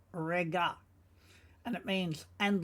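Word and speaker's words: רגע: Uk, rega. Now you'll notice that the Aryan is in white, meaning we don't need to pronounce it. We just pronounce what we see, rega.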